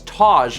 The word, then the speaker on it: Taz: Uh 300 bits from Tipsy Taz uh Steven When you say my name, it's Oh, it's Taj like Taj Mahal.